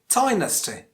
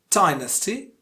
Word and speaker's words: dynasty: If you can pronounce minority as minority, what about dynasty? Dynasty, dynasty. Yes, that's the second pronunciation.